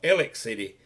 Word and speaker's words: Alexander City: in Alexander city or Alexander city is called elec city by most of the people in this area anyway that's just part